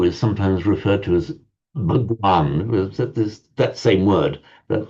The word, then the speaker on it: Bhagwan: sometimes referred to as Bhagwan this that same word that that's the modern Hindi pronunciation behavan in Sanskrit Bhagwan